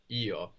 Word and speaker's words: io: and this ISO and it can sound a little bit more like yo yo when it's especially when it's pronounced in a sentence a little bit like the English a you know if somebody says